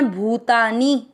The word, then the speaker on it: भूतानि: भू की मात्रा बड़ी लंबा खींचना है, भूतानी।